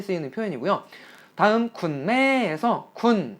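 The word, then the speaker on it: คุณ: 표현 이고요 다음 국내에서 쿤 이라고 짧게 평성 으로 발음 해주시면 당신이라는 대명사 또는 꾼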